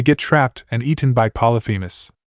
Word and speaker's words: Polyphemus: The satyrs come here thinking they've found Pan, and they get trapped and eaten by Polyphemus. Polyvu? Percy asked again, getting further confused. Geez, Percy. P-L-Y-P-H-E-M-U-S. Naruto emphasized each syllable so the son of Poseidon could understand.